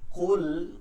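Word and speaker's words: قُلْ: কুল, কফ লাম পেশ, কুল, কুল এটাকে ভারী রাখতে হবে। কুল, কুল কফের উচ্চারণটা আমাদের হলক থেকে, যেখান থেকে জিহ্বার গোড়া এবং হলকের গোড়া আগা থেকে উচ্চারণটা করতে হবে, শেষ থেকে।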